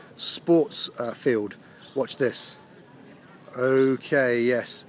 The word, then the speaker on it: 也: Also is pronounced ye.